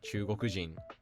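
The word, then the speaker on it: 中国人: of the country was, such as Chugoku being pronounced as Chugokujin, and America being pronounced as Amerikajin.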